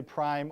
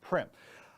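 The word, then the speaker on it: Primm: Nguyen all right um people mispronounced Prim so obviously don't take offense to that p-r-i-m-m people say Prime all the time or Prim so anyways my name is primp however we spend depending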